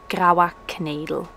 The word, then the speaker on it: Graua Knedel: Okay, recipe number one, which is pronounced Graua Knedel.